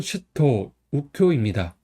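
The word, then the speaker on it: 周東佑京: 26번은 슈토 우효입니다. 한자는 두루즈 동력동 도우루 서울경이에요. 두루즈는 쉬우라고 읽어요. 음독으로. 동력통은 토우는 우, 서울경은 쿄 이렇게 읽어요.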